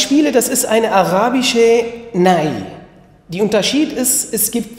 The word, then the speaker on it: nay: Die Unterschied ist, es gibt, weil andere, man nennt Nei, das ist in der Türkei. In der Türkei, man also nennt Nei, Nei, Nei und schreibt man das N-E-Y, aber das Arabische ist Nai, ist mit N-A-Y.